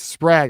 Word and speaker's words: Sprague: You got Sprague, for all those who want to give me crap about how I pronounce Sprague. It's Sprague. I got it.